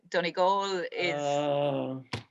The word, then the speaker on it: Donegal: um well firstly it's uh johnny goal you pronounced um inion perfectly but uh donnie goal um but um yes there's in in typical